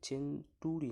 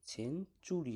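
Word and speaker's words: century: এর পর ইউ আছে, তাই এখানে চেনটুরি নয়, চেনচুরি হয়ে গেল, চ হয়ে গেল টি এর উচ্চারণ।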